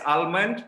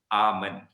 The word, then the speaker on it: almond: So if you pronounce it as almond, you are very American. Tiba-tiba satu word American, yang lain semua British. Okay? But kalau nak ikut, nak be consistent, English or UK pronunciation is almond. Okay, without the L sound.